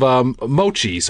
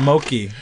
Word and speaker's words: mochi: We got ourselves a couple of mochis. How do you say it? It was mochi. Mochi. Yeah. You kept calling it moki. Did I really? Oh my God, what is moki?